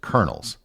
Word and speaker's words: Colonel: 16th and 17th centuries the word Colonel has a very odd pronunciation given how the word is spelled the reason has to